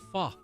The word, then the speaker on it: pho: Vietnamese noodle soup which folks from that country called Fah spelled pho and often mispronounced in America as folk anyway the first time